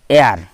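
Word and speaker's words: heir: তাহলে দেখা যাচ্ছে অ্যান এয়ার, এইচের উচ্চারণ নেই, হেয়ার নয়, কিন্তু এখানে হয়ে গেলো এয়ার উচ্চারণ, এ সাউন্ড হচ্ছে ভাওয়েল সাউন্ড, তাই হয়ে গেলো অ্যান।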